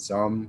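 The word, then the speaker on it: Xumm: butchering it calling it some when it's some but it's just something in my brain says x it's it's pronounced like z but you get what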